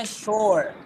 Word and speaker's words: sore: So, bilangnya sure.